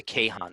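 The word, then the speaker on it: Kayhan: universe in farsi so the national newspaper of iran is the kehan is how it's pronounced and so i guess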